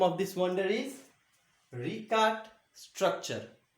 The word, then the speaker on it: Richat: And the name of this wonder is Richat structure. R-I-C-H-A-T. Richat. S-T-R-U-C-T-U-R-E. Structure. Once again I'll spell and pronounce for you.